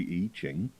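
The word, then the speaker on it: I Ching: humans have discovered it's called the e ching uh spelled with an i and ching um and you can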